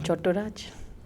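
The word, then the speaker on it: Chattoraj: Oh, you're not Chattopadhyay? No, I'm Chotturaj.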